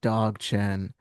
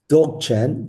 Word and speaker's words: Dzogchen: So you mentioned I've been pronouncing it dog chen. I don't know what you have a much more correct pronunciation of some of these words. Yeah, Dzogchen.